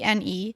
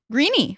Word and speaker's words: Greene: So he read Fort Greene, which is Greene, with an E at the end, and assumed because green Green is green that this would be Greeny, Fort Greeny.